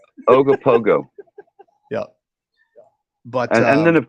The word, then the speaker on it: Ogopogo: Is that how you say it? It's like, no. There's lots of O's in between the letters. Ogopogo.